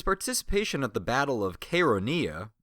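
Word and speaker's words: Chaeronea: at the Battle of konia I think I pronounced it chironia last time that's my mistake oh and just because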